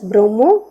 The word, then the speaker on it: bromo: For example, bromine will be pronounced as bromo, chlorine will be pronounced as chloro, cyanide as cyano, fluorine as fluoro, etc.